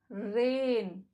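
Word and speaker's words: rain: Second example, रेन, द ए की जो आवाज़ है वो लॉन्ग साउंड है और आई साइलेंट है।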